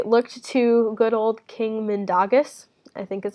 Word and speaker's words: Mindaugas: nation, and they looked to good old King Mindaugas, I think is how you pronounce that, Mindaugas.